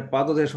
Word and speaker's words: পাদদেশ: ঠিক তেমনি এটা পাদদেশ না, পাদদেশ তো নাই, এটা পাদদেশও না, এটা পাদদেশও না, এটা হচ্ছে কি পাদদেশ, ওকার উচ্চারণটা অনেকটা এরকম, পাদদেশ সংবৃত উচ্চারণ, পাদদেশ।